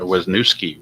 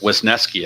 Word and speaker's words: Wesneski: Right-hander Hayden Wesneski or Wesnuski, whatever you want to call him. Start. Wesneski, I guess, is how you pronounce it.